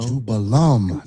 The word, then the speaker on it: Jubelum: So, these three ruffians, you got the name wrong. It's Jubella. Jubella. Jubello. Jubello. Jubelum. Not Jubel.